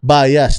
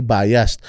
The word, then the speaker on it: biased: So katulad dito sinasabi, bias with an ED po. Bias. So parang sinasabi, kino-correct niya yung mga sumisigaw sa kanya doon sa The Hague na bias. So kasi daw ang tamang bigkas daw ay biased.